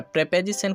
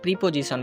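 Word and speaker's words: preposition: India বা বাংলাদেশে এটা আমরা প্রিপোজিশন বলে থাকি, আর এটা যদি আমরা অক্সফোর্ড ডিকশনারির রীতি অনুযায়ী উচ্চারণ করি তাহলে এটার উচ্চারণটা পাবো আমরা প্রেপোজিশন।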